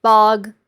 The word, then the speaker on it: Bog: Oh, okay, and the bog is pronounced bog, rhymes with frog.